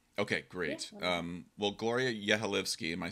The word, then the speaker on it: Gloria Yehilevsky: Well, Gloria Yehilevsky, am I saying, I pronounced it correctly?